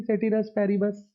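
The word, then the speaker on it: ceteris paribus: देखो इसकी pronunciation actually होती है सेतेरू पारिबू। ठीक है, सेतेरू पारिबू इसकी एक्चुअल प्रोनाउंसिएशन होती है, लेकिन ये कोई करता नहीं है, करते हैं सब वही सेटिरस पैरिबस।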